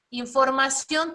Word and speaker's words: información: Entonces, pero si te das cuenta, vamos a separarla en sílabas. Es información. Es un diptongo, pero al final se escucha la sílaba tónica. ¿En dónde se escucha? Al final. Es una palabra que aguda, grave o esdrújula. Una palabra aguda y se va a acentuar en la O y además termina en